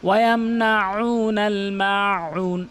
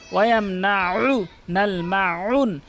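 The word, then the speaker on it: وَيَمْنَعُونَ الْمَاعُونَ: না, হামজার উচ্চারণ করে, আইনের উচ্চারণ করতে হবে হলকের মাঝখান থেকে, তাহলে শুদ্ধ উচ্চারণ হবে। ওয়ায়ামনাউ, ওয়ায়ামনাউ, ওয়ায়ামনাউ নাল মাউন, ওয়ায়ামনাউ নাল মাউন, কখনোই ওয়ায়ামনাউ নাল মাউন এভাবে বলবেন না, বলবেন হচ্ছে ওয়ায়ামনাউ নাল মাউন।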